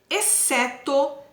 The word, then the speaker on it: exceto: as palavras a seguir exceto descer e cresço como fala a palavra exceto o x e o cê tem o som do que ds eu não falo esse certo exceto exceto então xc